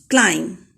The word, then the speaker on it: climb: Next word, climb. B is silent.